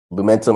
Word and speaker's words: Lumentum: So you're currently working at I hope I say this right, Lumentum. Lumentum operations. Yes. Thank you. Lumentum. Perfect. Was like, there's multiple syllables always get me.